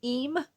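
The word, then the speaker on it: Eyam: it's gorgeous um I'm looking to go to E it's spelled e y a m but pronounced e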